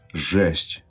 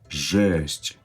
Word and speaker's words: жесть: Жесть. Жесть. Right, this word sounds like the first part of the word gesture, right?